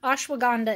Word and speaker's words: ashwagandha: It's Tulsi ashwagandha is how you pronounce that.